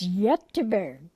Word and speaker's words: Göteborg: And the Gothenburg in Europe pronounces it differently than we do. The other Swedish name is Göteborg.